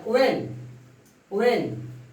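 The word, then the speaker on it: when: वेन, ये आपका, इसको हम बोल नहीं रहे हैं, इसको वेन पढ़ रहे हैं, वेन। वेन एच साइलेंट हो गया। डब्ल्यू के बाद जब एच आएगा तो वह साइलेंट हो जाता है, उसको नहीं बोलते हैं।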